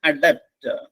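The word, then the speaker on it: adept: ഇതാണ് അഡാപ്റ്റ് spelling ശ്രദ്ധിക്കണം എഡി ഇ പിടി അതിന്റെ ഉച്ചാരണം അഡാപ്റ്റ് അഡാപ്റ്റ് എന്ന് പറഞ്ഞാൽ വെൽ സ്കിൽഡ് അല്ലെങ്കിൽ പ്രാവീണ്യമുള്ള നിപുണനായ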